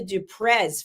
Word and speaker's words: du Preez: The Z at the end, even though it's spelt with a Z, it's not pronounced with a Z.